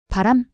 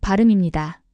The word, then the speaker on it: 발음: 발음이라고 해 보세요. 바람? 아니요. 발음입니다.